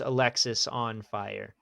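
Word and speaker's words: Alexisonfire: some somewhere I found it and it is pronounced Alexis on fire as far as I know it's confirmed.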